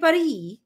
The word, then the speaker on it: Paris: fun in monaco an Par in par ba walang s ang bigkas pag nasa Paris ka Par I am being Parisian